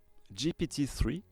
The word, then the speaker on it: GPT-3: GPT-3, à prononcer à l'anglaise, évidemment, sorti en 2020, est